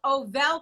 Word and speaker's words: Ovelle: me if i'm wrong sasha is it called ovel coffee that is correct okay i just want